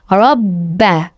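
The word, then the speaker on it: رَبَّ: রবাদ হারফ দুইবার উচ্চারণ করিয়া পড়িতে হয়। একবার পূর্বের হারকতের সঙ্গে আরেকবার নিজ হারকতের উচ্চারণ হবে। রব্বা রব্বা হা জবর হাল লাম জবর জাল।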